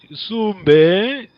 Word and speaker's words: Sumbe: Sumbe, make sure you remember this is a question Kikongo, but make sure you pronounce Put the A to it. The last E. Sumbe.